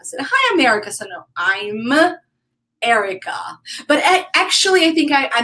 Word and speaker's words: Erika: I told you that people here called me America because when I introduce myself I say hi America hi America so no I'm Erica but actually I think I mentioned that I